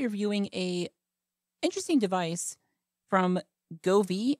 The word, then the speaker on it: Govee: a interesting device from Govi I think that's how you pronounce it g o v e e go V is a smart space